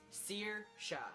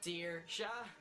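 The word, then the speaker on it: Saoirse: Searsha. This one is pronounced so incorrectly throughout the world. It's Searsha. Searsha. Searsha, Searsha. It's not difficult.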